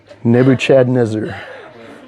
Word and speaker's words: Nebuchadnezzar: greatest king of Babylon make sure you pronounce it right okay emphasis on the Chad Nebuchadnezzar so uh and and